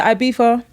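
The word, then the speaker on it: Ibiza: not we're going to ibifa and it's gonna be a white label at Beef off that's how you say it yeah ibifa ibifa okay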